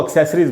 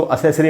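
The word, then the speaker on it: accessory: करते हैं लोग, उनको एक्सेसरीज बोलते हैं। तो उच्चारण है एक्सेसरी, इसको असेसरी नहीं पढ़ना चाहिए।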